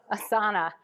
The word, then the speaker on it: Asana: Is it Asana or Asana? Asana. Okay, we've got Canva.